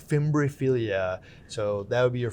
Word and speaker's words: Fimbriaphyllia: Starting with Euphyllia and fimbriaphyllia. Did I pronounce that?